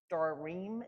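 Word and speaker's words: Sedarim: and we're going to have our Starim, is how you say it, but our Seders.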